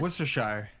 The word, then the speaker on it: Worcestershire: the shire yeah and it's not written like it's pronounced what the [ __